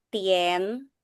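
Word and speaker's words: 点: Nah, itu bacanya tien.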